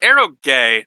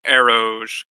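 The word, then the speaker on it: eroge: so it is it's it's Arrow gay not Arrow yeah it's the the GE is short for game basically yeah it's difficult to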